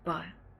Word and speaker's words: Crested Butte: It's pronounced Butte. Well, it's Crested Butte. It's Crested Butte with the certain accent.